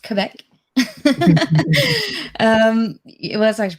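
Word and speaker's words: Québec: yes i am in quebec canada it's not pronounced quebec it's pronounced quebec um it was actually pronounced both ways but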